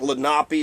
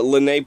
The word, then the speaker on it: Lenape: It looks like Lenape or Lenape.